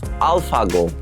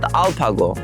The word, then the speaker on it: AlphaGo: his name is Al alphago but Korean peop cannot pronunce it Alpha F pronunciation they cannot pronounce so they call it Alpo and this is my